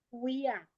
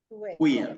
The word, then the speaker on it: quia: Fui, yo aquí enseguida de lo que estábamos, yo tengo una que es cuía. Cuía. Es lo mismo, igual es con la U, ¿verdad?